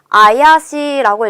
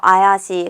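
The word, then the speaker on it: 怪しい: 쇼 발음이 비슷하지만 의미가 완전히 달라지는 거 체크하셔야겠죠? 3번에 이형용사 나왔습니다. 자, 요거 어떻게 읽냐면요. 아야시라고 읽어요. 아야시.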